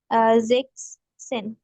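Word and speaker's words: sechzehn: হচ্ছে জেন তাহলে হচ্ছে জেক্স সেন রাইট আপনি এখানে জেড এর উচ্চারণটা এস এর মতন হবে তাই আমরা এটাকে উচ্চারণ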